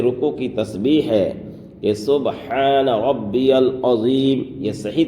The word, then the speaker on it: سبحان ربی العظیم: کی تسبیح ہے کہ سبحان ربی العظیم، یہ صحیح تلفظ ہے، سبحان ربی العظیم۔ اب بعض حضرات کیسے پڑھتے ہیں؟ سبحان ربی العظیم، سبحان ربی العظیم، یہ پڑھنا بالکل غلط ہے۔ ہم کس طرح سے پڑھیں گے؟